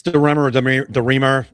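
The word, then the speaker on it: DeRemer: I I think it's durr demer. It it's got it's got a hard R apparently.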